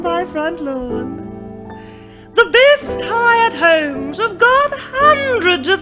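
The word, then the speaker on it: Highett: for it's so beautifully quiet in Hyatt. It's so beautifully cozy and clean. The folk who live there never gossip or stare. They're too busy watching a screen. There's no place in Australia to buy it. It's spelled Highet.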